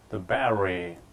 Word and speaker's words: battery: The battery. 우리가 이제 배터리라고 그러지만 원어민들은 battery라고 해버리죠. 그 battery에 대한 어떤 의문 현상이 벌어진 거죠. T가 R 발음이 되고 그런 것들 이제 flap 된다고 그러죠.